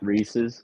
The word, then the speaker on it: Reese's: Go ahead, How do you pronounce that? Both say it out loud. Reese's. Yeah. Reese's.